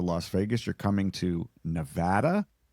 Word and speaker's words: Nevada: And if you come to my state, if you come to Las Vegas, you're coming to Nevada, not Nevada.